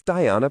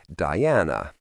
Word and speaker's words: Diana: Diana Yeizabo said it with a long e rather than an I and an emphasis on the first rather than the second syllable.